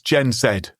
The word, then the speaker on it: Gen Z: It's Gen Zed, Mark. Sorry to point out your error in pronunciation. You are British.